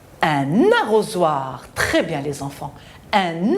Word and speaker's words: arrosoir: Arrosoir. On a la voyelle O. Entre les deux, on a la consonne S qui se prononce Z.